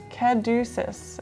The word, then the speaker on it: caduceus: Caduceus is how you pronounce it.